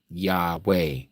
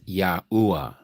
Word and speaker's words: Yahweh: Now, as far as the word that you use there, this one here, there is no Hebrew lettering that gives us this sound right here. The EH, eh.